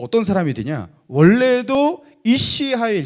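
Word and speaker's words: אִישׁ חַיִל: 이시 하일. 자, 남자는 이시예요. 여자는 이시하고. 이시야 이시. 헷갈리죠? 이거 뭐 이렇게 헷갈리게 이렇게 다 발음을 했는지.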